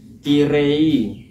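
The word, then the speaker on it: きれい: Watasi baru belajar baru kirei. Kirei itu k r kiri ya. Terus cara bacanya itu kan tulisannya kirei. Terus cara bacanya itu kire gitu cantik ya kan.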